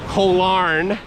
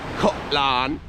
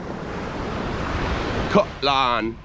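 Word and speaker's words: Koh Larn: of us will call Kolarn. The Thai pronunciation of it is different. It's a little softer than that. It's more like Kolan.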